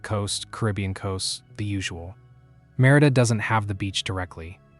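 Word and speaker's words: Mérida: Merida, pronounced MH Rita, the capital of the Yucatan state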